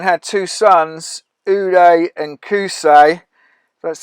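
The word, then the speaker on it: Qusay: person now celebrating had two sons uday and kusey that's how you say it now this is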